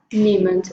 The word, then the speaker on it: niemand: Ah, porque a gente já falou niemand, mas o E é mudo, né? Não, não é que E é muda, é porque I mais E, som de I. Ah, niemand.